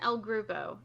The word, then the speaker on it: El Groupo: suggested um Walt and L groove oh I think is how you correctly pronounce it that is correct so